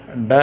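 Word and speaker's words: ڈ: अब तेलुगु में जैसे ट ठ ड ढ होता है वैसे ड है ये ड।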